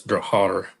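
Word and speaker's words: Drahthaar: if you try to pronounce it in German, it's Drathar.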